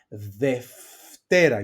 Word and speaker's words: Δευτέρα: They are pronounced, these two diphthongs, alpha epsilon and epsilon epsilon, as af, f, ευχαριστώ, Δευτέρα, you see my pronunciation, and εύκολο. So they are pronounced as af, f.